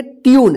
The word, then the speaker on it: tune: TUNE, इसको क्या पढ़ेंगे? ट्यून। देखिए यू है ना, ट्यून। इसको टूने मत पढ़िएगा या टून मत पढ़िएगा, ट्यून।